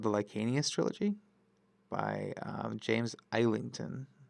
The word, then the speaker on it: Islington: I read recently a series called the Lycanius trilogy by James Islington with an S. It's pronounced Islington because he's British.